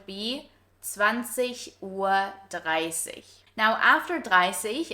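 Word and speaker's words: dreißig: Side note here, you also might have noticed that we pronounce the IG at the end as an Ich sound. So in high standard German, it's not 30, but 30.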